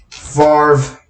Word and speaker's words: Favre: That's my boy low how can you spell that fits Jerome uh Aaron Rodgers no that's Brett Favre Brett Favre farv ah come on Bryce the last quiz right